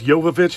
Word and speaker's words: Jovovich: Mila Jovovich, I think it's Jovovich is how you pronounce her name.